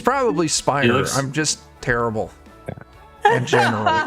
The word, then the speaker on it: Spiner: the is real upset you pronounced his last name spinner Spiner how do you say it it's probably Spiner I'm just terrible General it's like a uh